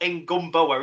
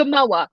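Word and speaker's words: Ngumoha: this, and he said there's no B in it, and he's put a B in my head. It's not Ngumboa, is it? It's Rio and oh, you've got me saying it wrong now. Oh, you can tell it's Ngamoa. That's it. It's Ngumboa.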